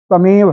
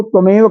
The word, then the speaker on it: तमेव: बहुत यहाँ पर एक चीज है, कई बार उच्चारण में ये जो तीसरी लाइन का पहला शब्द है ना, तमेव है, तम धन एव है, इसको त्वमेव कई लोग कह जाते